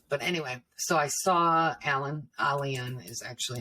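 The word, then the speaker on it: Aylan: We don't have a lot of, but anyway, so I saw Alian is actually how you pronounce his name, but face down in the sand.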